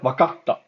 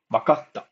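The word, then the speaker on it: 分かった: Um, and then yeah, so if you find a small tsu, it's a pause, right? Wakatta, not bakata. If you remove this, it's wakata, and this is wakatta.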